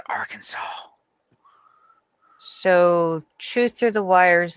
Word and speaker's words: Arkansas: They got one named Arkansas, but they pronounce it Arkansas.